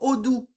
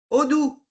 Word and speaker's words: Odoo: question, c'est sur Odoo. Odoo. Tu m'as Odoo, demandé où Odoo, c'est c'est, d'où? sur Ça quoi?